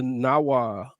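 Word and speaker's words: Nahuatl: then they do it with the Nawa word, the native tongue. Is that how you say that? Yeah, I think the TL is silent.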